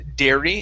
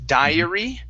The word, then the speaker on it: dairy: The only word that was a little off was the word dairy instead of diary. A diary is like a journal, and the A and the I would be switched. That would be diary. Okay, but this word is dairy.